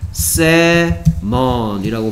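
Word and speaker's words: salmon: 자 먼 조심해야 될게 L이 소리가 안 나 그래서 셀먼이 아니고 그냥 셀먼이라고 발음한다는 거 조심해야 돼요음 또 있을까 일단 일단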